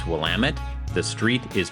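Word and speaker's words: Willamette: from Hawthorne by the way the river is pronounced wamit the street is pronounced cooch Street and the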